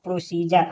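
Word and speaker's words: procedure: ई दे दिया हो तो डी का हम उच्चारण ज करेंगे।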